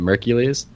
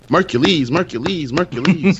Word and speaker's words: Mercules: So you combine those two things together, you get Mercules. It's not Mercules, because I know some people pronounce it Mercules. It's not. It's like Hercules, but with an M.